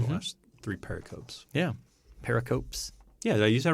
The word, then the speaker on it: pericope: know if I've ever heard that word actually pronounced pericope hmm okay yeah uh so my one thing